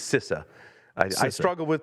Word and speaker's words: CISA: And this is where you get into, CISA, however you want to pronounce it, CISA. It's CISA.